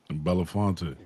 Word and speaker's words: Belafonte: name benef come on well help me out Belafonte Belafonte um he actually gave Harry Belafonte a